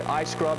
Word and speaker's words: iScrub: iScrub is in iScrub, not E-Y-E scrub or E-E-Y-E.